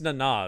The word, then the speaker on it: Nana: I think it's Nana is how I've heard her say it.